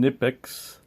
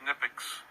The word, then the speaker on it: Knipex: I usually pronounce the company name KNIPEX, but I've been told that the proper pronunciation is KNIPEX.